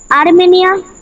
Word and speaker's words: আরমানি: আ যোগ আগে রেপ আছে বলে আগে র, তারপরে ম, তারপরে আ, তারপরে নি। ঠিক আছে? এই র আছে বলে আরমানি হয়ে গেল।